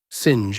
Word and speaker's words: singe: in the same way he was taught to pronounce ape, singe, and tree.